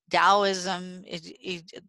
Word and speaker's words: Taoism: And so these Taoism, they're one spelled with a T, one spelled with a D, but they're pronounced with a D.